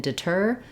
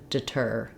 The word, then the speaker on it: deter: it fast deer and this one you want to hold it longer deter deter also in um